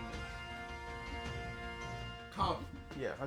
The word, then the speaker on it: Kabu: Or Kado. Kudo. What the fuck his name is? Kabu.